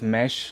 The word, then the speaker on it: msh: It's called mesh, but you know you just spell it mesh without the e.